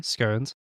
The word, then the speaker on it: scones: First point, she said it correctly. Scones.